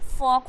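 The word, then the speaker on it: folk: एंड चौक हो जाएगा यक हो जाएगा ए फॉक हो जाएगा ओके क्योंकि एल साइलेंट करना है अगर एल अगर पढ़ोगे तो फॉल्क हो जाएगा ल्क हो जाएगा चालक हो जाएगा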